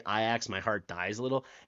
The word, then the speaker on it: Ajax: Or where they say Iax out loud. I lived many years in Amsterdam. The football team is called Ajax, spelt the exact same way and it's pronounced exactly as I said it.